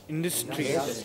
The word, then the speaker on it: industry: Industry. Yeah, no, it is not industry. Industry. It is industry. Main stress on the first syllable, in.